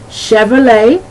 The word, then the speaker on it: Chevrolet: All right, that CH has the SH sound. An example would be Chevrolet.